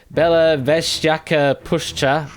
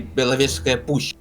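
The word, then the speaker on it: Belovezhskaya Pushcha: Belovezhska Pushcha. I'm obviously not pronouncing that right. Can you help me? Can you help me out? Yes, I can. It's actually Belovezhska Push.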